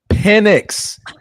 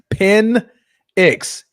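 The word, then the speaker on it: Penix: Penex experience. Pen x. P. Spell it, Bruce.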